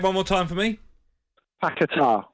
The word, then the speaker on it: Paquetá: just pronounce his surname one more time for me. Paquetá. Paquetá, okay.